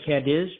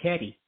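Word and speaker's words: Cádiz: called either Gage or and it looks like cadis but she goes no it's called caddy so anyway I've been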